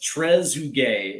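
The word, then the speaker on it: Trezeguet: So, we have uh so here's the uh here's Shimu Vandu who's who says Tresugay is how it's pronounced. Why? I I appreciate that one. Uh or it's Treasure Gay.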